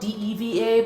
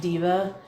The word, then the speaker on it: Deva: Oh, it's It's spelled DEVA, but it's pronounced diva, like a person.